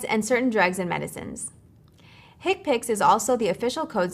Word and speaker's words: HCPCS: common procedure coding system HCPCS commonly pronounces hick picks are a set of